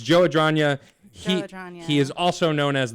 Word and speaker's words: Adragna: But it's Joe Adragna.